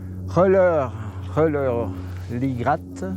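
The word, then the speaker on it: Rellerligrat: Reiler-Lie-Gratte. On prononce toutes les lettres en allemand.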